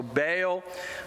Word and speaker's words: Baal: only Molech but also Baal uh ball depending on how you want to pronounce it and possibly even